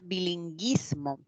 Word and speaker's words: bilingüismo: este con la diéresis Claro porque al al pronunciar Si suena la u porque si no diría bilinguismo y no Si suena la u por eso tiene diéresis En cambio cuando digo